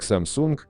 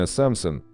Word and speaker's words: Samsung: Samsung в России произносят как Samsung, но более правильно Samson с ударением на первом слоге, что в переводе означает «три звезды».